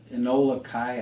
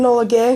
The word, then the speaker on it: Enola Gay: Just to add to that, if you want me to, the really highlight was the plane, the Enola Kai. I'm not pronouncing it. Enola Gay.